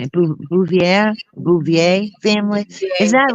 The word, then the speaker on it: Bouvier: Bouvier family? Is that right, Bouvier?